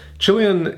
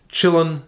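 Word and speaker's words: Chillon: counting question number one Chilean Castle stands in which European country or pronounced in a slightly different way Chillin Castle c-h-i-l-l-o-n stands in which European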